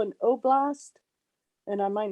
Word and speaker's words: Oblast: Is that what they call an oblast? And I might not be pronouncing that correctly.